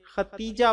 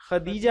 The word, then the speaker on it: خدیجہ: پہلی زوجہ محترمہ ہیں۔ کچھ لوگ ان کے نام کا تلفظ تے سے ختیجہ بولتے ہیں جو درست نہیں ہے، یہ لفظ خدیجہ ہے دال سے۔ خدیجہ رضی اللہ تعالی